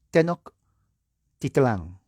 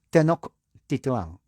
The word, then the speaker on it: Tenochtitlán: Déjeme ver si lo puedo pronunciar. Tenochtitlán. ¿Correcto? ¿Así? ¿Lo hice bien? Tenochtitlán. Tenochtitlán, poniendo fin al poderoso imperio azteca.